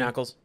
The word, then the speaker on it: Ackles: How do you pronounce his last name? Jensen Ackles.